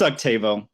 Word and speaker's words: Octavo: And this Octavo or Octavo, how do you say it? It's Octavo. Octavo.